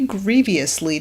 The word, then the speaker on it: grievous: We are fighting against something that truly grievously disturbs us." That's always how he pronounces grievous, adding an E sound in the middle.